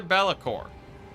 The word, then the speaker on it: Be'lakor: Now, for the Be'lakor, there we go, saying it right.